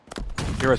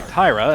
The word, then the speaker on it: Tyra: donut I recognize tra Tia Snipes and chocolate I'm sorry Tyra as I'm being corrected by production my apologies for mispronouncing your name Tyra but uh Tyra and